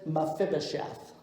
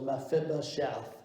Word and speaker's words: Mephibosheth: The name is Mephibosheth. 4 syllables, Mephibosheth.